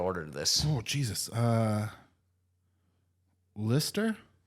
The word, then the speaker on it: Leicester: Lister. It's Leicester. Leicester. Oh, fuck. These are all like British things. and Like that's spelled Leicester. Lister. Leicester. Leicester. Like a person's name.